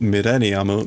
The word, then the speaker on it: Millennium: But that's why I know that this is pronounced Millennium, because in that story, they wrote it out in katakana, furigana.